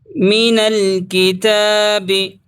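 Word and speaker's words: مِنَ الْكِتَابِ: नारा वला युकहु हु मीनल किताबी नून को लाम में मिलाएंगे। अलिफ साइलेंट है।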